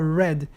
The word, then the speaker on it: read: Se escreve do mesmo jeito no passado, mas no passado a gente não fala read, a gente fala red, como a cor vermelha.